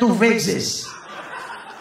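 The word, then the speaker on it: TUVWXYZ: Yang keempat T sampai Z bacanya Tuvexis.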